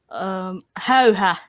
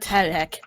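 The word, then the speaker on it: Häyhä: It's actually it says it's pronounced hauha, not Hayek.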